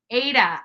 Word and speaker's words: Ada: o'clock Eastern Standard Time it's pronounced with a long a Ida oh thank you thank you chat top tasks Ada Ada County I probably said